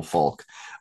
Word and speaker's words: Falque: And his last name, for the viewers who are interested, is spelled Falque. So Immanuel Falk.